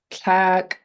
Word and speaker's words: tlak: It should rhyme with the color black.